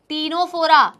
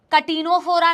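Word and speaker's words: Ctenophora: Then comes the next phylum टीनोफोरा। इसका बिल्कुल भी नाम कटीनोफोरा नहीं है, इसको कृपया करके कटीनोफोरा ना बुलाएं, ठीक है।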